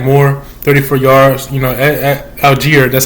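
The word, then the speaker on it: Allgeier: could have had more 34 yards you know Alger that's how you say his name 30 attempts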